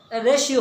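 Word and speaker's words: ratio: দ্য রেশিও এখানে উচ্চারণটা কিন্তু অনেকে রেটিও বলা থাকে, রেশিও হবে।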